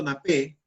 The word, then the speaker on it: napé: El punto napé, la pronunciación es punto napé, es un punto que se emplea a la hora que se prepara una salsa.